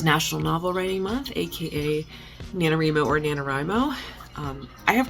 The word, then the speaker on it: NaNoWriMo: So we always called it NaNoWriMo, and then come to find out that most people pronounce it NaNoWriMo. So I do pronounce it NaNoWriMo, so I'm sorry. I try to pronounce it NaNoWriMo sometimes for people because people get very upset about this, even though there was an official statement that you can pronounce it either way.